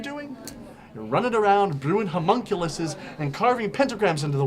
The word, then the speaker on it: homunculus: go talk to that human culus of yours okay it's pronounced homunculus genius I don't need